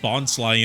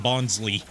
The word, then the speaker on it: Bonsly: in that movie and pronounced his name wrong because they hadn't solidified the pronunciation yet if you go back and watch that movie in Bond's first appearance everyone calls him bonley y but killing off